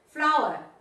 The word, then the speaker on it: flour: Flour, se pronuncia harina como flor.